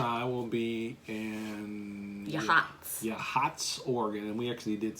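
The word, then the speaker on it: Yachats: will be your max yeah hots organ and we actually did say that right it's spelled your chats Y ACH 80s but it's pronounced yeah yeah all these Indian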